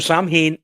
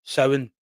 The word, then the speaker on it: Samhain: I was going to read it in the the the voice of Sam Hayne, but uh so Sam Hayne is a character.